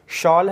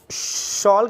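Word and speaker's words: shawl: शॉल है, अब इसका प्रोनाउंसिएशन हम लोग शॉल के तरीके से करेंगे, शाल की तरीके से नहीं कर सकते हैं।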